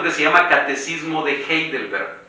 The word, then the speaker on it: Heidelberg: se llama catecismo de heidelberg se escribe con nadie al principio un h que suena como j catecismo de heidelberg déjenme